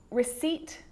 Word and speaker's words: receipt: column that's it the letter p can also be silent in words like receipt psychology and psycho now